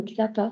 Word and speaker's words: CSAPA: Le XAPA, en fait. Pour retenir le XAPA, ça s'écrit CSAPA. C'est un réseau autour des